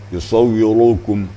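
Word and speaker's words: يصوركم: Contohnya yusawwirukum, beda bunyi kan. Jadi harus disterilkan sedikit, tapi tetap tebal kedengarannya. Yusawwirukum, wirukum. Jangan dibaca yusawwirukum.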